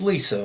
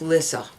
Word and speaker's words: Lissa: Lisa I'm bigger part did you think that because it's spelled Li si that's generally how people pronounce Lisa where I come from if I offended you I'm sorry well it's Lissa all right fair enough